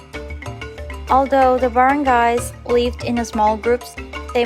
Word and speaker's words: barangay: These were known as the barangays, pronounced as barangay.